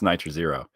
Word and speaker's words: nitr0: is nitro nitro zero you mean nitro zero i think that's it's pronounced nitro zero um aside from everything